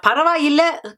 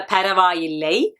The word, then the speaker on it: பரவாயில்ல: Now paravailla, colloquial Tamil, written Tamil is a paravaillai, but we don't say it. We say paravailla when we speak it.